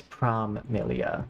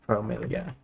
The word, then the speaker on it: Promilia: Uh, it's Prom Millia, not Promilia.